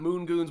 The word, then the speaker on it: Moongoons: So it's not Moongoons with the Z and the Z is silent? That is correct.